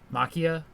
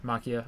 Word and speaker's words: Machia: I never pronounced that dude's name right. Is it Makia? Yeah, Gigantomachia. Makia, okay.